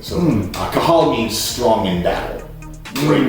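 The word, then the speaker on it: Cathal: And it's an Irish name that's spelled, the Irish language has a lot of H's in it. And the H is actually an accent. And the H means you breathe the syllable in instead of breathing it out. So Irish people can talk, apparently, without stopping for breath, because the language has this breathing aspect built into it.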